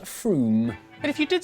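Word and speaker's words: Frome: It should be blitheringly obvious is pronounced Froom. But if you did say Froom, don't worry.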